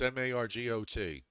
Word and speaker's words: Margot: you've been saying that's m-a-r-g-o-t but what do the woman who played Lois Lane yeah we everybody calls her Margot Kidder even though she spells it m-a-r-g-o-t right but I know